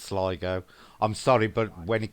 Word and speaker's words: Sligo: Joanne says it's pronounced Sligo.